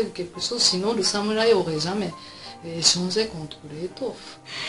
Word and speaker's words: samouraï: Samouraï, les Français prononcent samouraï, mais en fait c'est samouraï parce que nous n'avons pas de R.